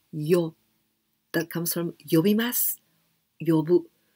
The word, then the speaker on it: 呼: And this kanji, 呼, we can also pronounce yo.